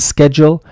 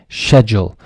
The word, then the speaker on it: schedule: And then we have BEHIND, SCHEDULE. Two different pronunciations for this: behind schedule or behind schedule. I generally use schedule more, and I think I hear it more as well.